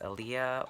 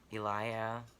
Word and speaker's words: Eliah: introduce myself so um my name is is Aaliyah or Elia I haven't really um picked an English pronunciation for my name yet um yeah I